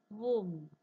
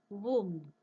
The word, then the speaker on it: womb: Look at the pronunciation of next word. Womb. See the similarity in spelling. Comb. Womb. Read. Dead. Almost same hai baga spelling. But pronunciation vega hai.